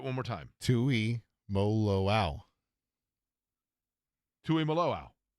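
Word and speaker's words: Tuimoloau: He said it's Tui Maloau.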